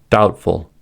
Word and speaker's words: doubtful: Second, B is usually not pronounced before T. These are examples: debt, doubt, debtor, doubtful, subtle.